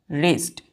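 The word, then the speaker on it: wretched: है हम लोगों का रेस्ट डब्लू आर ई टी सी एच डी क्या है रेस्ट इसको डब्लू य साइलेंट हो जाता है पहले हमने एक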